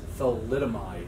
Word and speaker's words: thalidomide: So I think I pronounced it wrong, but yeah, I think it's thalidomide. Thalidomide is the actual pronunciation.